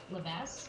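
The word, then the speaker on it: Levesque: Leves, L-E-V-E-S-Q-U-E, that's how you pronounce it, 26-year-old, and they identified him shortly after Jesus went missing.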